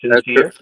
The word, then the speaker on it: Sin Seer: liony radio's interview with um with Trey from sinere am I pronouncing that correctly sinere yes sir that's correct so just for everyone